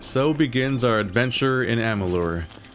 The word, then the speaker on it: Amalur: Alright, so begins our adventure in Amalur. A thing I always have to remind myself to pronounce and spell with a U, because I always get it wrong.